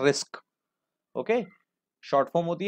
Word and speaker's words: RISC: इसको प्रोनाउंस करते हैं रिस्क.